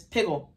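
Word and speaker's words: piggul: foul thing or unclean sacrificial flesh okay ashan's pronunciation is piggle so let you hear somebody say that's piggle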